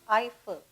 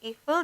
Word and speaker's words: Eiffel: The Eiffel Tower, it's pronounced as Eiffel. Don't say Eiffel.